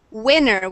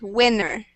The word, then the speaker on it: winner: first excellent good pronunciation let's say this word one more time um Gustav winner with a short ey sound winner winner much better perfect pronunciation if you say it with a long eye sound it sounds like a hot dog so we want to